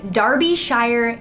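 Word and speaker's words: Derbyshire: this in because he told me how to pronounce this the darby shire cave rescue organization in the uk very neat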